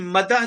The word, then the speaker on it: مدح: سمجھنے کی ضرورت ہے۔ ایک ہے مدح کرنا، جس کو اصل تلفظ ہے مد کرنا، جس کو ہم کہتے